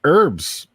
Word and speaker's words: herbs: All right, Jeff, let's talk herbs or herbs. How do you say it? Herbs or herbs? I think I just say herbs. I Herbs. believe that the H is silent, right?